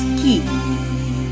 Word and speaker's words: chi: is written as k-square the greek letter pronounced as key the values of a